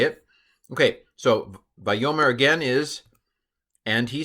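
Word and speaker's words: וַיֹּאמֶר: you can pronounce this here's how I would pronounce it by Omer you should know this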